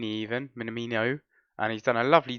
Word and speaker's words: Minamino: Minamini even. Minamino.